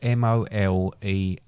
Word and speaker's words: mole: It's spelled or it's pronounced MOLEH, H. but it's mole, but it's spelled MOLE.